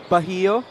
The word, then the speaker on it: Bahio: Vince Magbuhos and Chris Biton check in alongside MJ Ayaay to join JB Bahio. Yes, that is how you pronounce it.